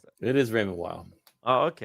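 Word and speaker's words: Raymond Weil: Maybe that's how it's pronounced. It is Raymond Wild.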